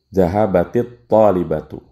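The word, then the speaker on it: ذهبت الطالبة: Namun cara bacanya kalau ada yang seperti ini dikasrohkan Zahabatit talibatu.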